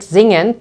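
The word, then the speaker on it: singen: of this word right the second word zingen to sing would be zingen has two syllables and you can see that the S is at the beginning of the word the third verb here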